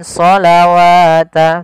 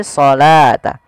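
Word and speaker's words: الصَّلَاةَ: kita bacanya dengan asalta wau di sini dianggap tidak ada karena di sini dalam bentuk penulisan rasum utmaninya wa aqimus shata bukan shawata tapi shata wa aqimus shata waatuzzakata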